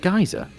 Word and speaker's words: Giza: There was the one scene where they were in the the Great Pyramid of Giza, and there's that like chamber in the center of it. Pronounced And Giza? is it Giza?